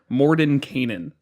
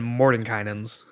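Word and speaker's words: Mordenkainen: you corrected it this time it should be Morden Canaan so I don't think anyone pronounces that right no yeah we've always done Morton kind ins yeah I missed that there was at the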